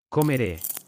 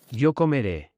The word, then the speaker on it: comeré: An acute E, which is pronounced A. Comeré. Yo comeré.